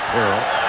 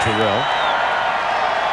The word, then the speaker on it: Terrell: catches those five-yard catches some confusion about how he pronounced his first name so it was cleared up for us it is Terrell not Terrell that leads this day